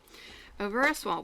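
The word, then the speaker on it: Au Ver à Soie: I was corrected in my bad pronunciation. Shame on me to the French. Okay, so Avera Soie, we've got 215, which is this bright green.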